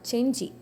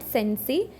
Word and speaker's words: Cenci: Next we shall discuss about the work Cheni. The Cheni is a tragedy in five acts. Okay. See the pronunciation it is not sensei. C sound is often pronounced in Latin as ch.